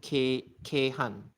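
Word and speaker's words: 京阪: Kyo can be pronounced as K, and that's why K and Han. Han is Osaka, the Saka part, and then the Chinese pronunciation, as in the one that's borrowed from Chinese, is Han. So K Han.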